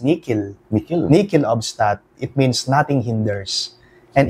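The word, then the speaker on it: nihil obstat: nating nichel obstat o the correct pronunciation in Latin is nickel Nel nikel obstat it means nothing hinders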